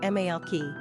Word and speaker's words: Malachi: Number of syllables, 3. Ranking popularity, 177. Pronunciation, Malachy.